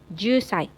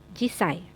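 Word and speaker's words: 十歳: Jusai, jisai, ada 2 pengucapan ya, untuk 10 tahun bisa jusai maupun jisai.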